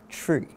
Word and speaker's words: Twi: called tree tree is spell Twi but it's pronounced tree right and um when I began to learn